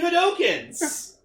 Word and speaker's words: Hadouken: Yeah, the fucking Ultra Hadokens he kept fucking pulling, just... Hadouken! Hadouken! He was doing fucking Hadokens!